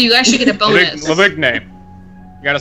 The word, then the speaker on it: Lavigne: Lavigne.